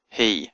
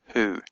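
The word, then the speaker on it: היא: heric at the bottom so you know to pronounce it he and not who so you have to look at the dots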